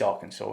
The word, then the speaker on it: Arkansas: daughter of southwest afghans arkhan arkansas it is arkansas isn't it i'm pronouncing that right i've just listened to the